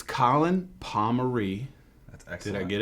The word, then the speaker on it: Pomory: Pomory spelled I-E at the end, but only the Pomorys from New York and Kempsville, Virginia Beach.